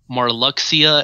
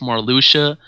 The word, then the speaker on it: Marluxia: a few things like he said marluxia instead of more Lucia or he said Leah